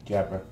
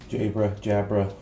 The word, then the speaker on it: Jabra: Alright, so very well-known company, Jabra. I don't know whether that's how you pronounce it from the UK. That's how we pronounce it. Jabra, whatever.